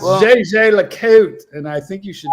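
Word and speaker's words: Jaeger-LeCoultre: It's JJ Lacote. Eddie's been doing his homework. Eddie's been drinking. Don't have it, man. It's JJ Lacote. So if you don't say it right, don't fucking say it, man.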